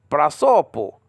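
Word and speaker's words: πρόσωπο: Okay, prasopo, prasopo, face. You have to say it like an Italian, Greek. It's like that.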